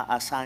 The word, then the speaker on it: Asa: Ahora, eh, muere entonces el rey Asa. En algunas versiones aparece con acento en la Asá, entonces, ¿verdad?